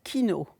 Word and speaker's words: Kijno: mot alors la dislas Kino ça s'écrit Kijno ça se prononce c'est pour ça je